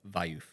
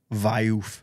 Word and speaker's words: Wiuff: Wiuff. Wiuff.